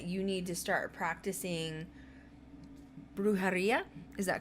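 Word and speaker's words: brujería: your guides that you need to start practicing brujaria is that correct i said it right perfect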